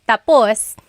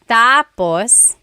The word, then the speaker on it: tapos: So, when it's tap tapus, when the emphasis is at the end, tapus, that means finished. When the emphasis is on the first syllable tapos then it means next.